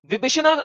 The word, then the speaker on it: विभीषण: उसका एक भाई था, विभीषणा, या कुछ ऐसे ही नाम था उसका। कैसे कैसे हाँ, प्रोनाउंस करते हैं?